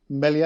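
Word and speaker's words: Meslier: Your keeper, Melier, is that how you pronounce it?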